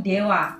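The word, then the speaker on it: では: ja arimasen dalam kurung ini bacanya bukan DH tapi dewa ya Secara gini bekerja di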